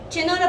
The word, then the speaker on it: چنار: چنا را برای تخته نوشته میکنیم. چ نون الف ر. چنار. تلفظ کنید. چنار.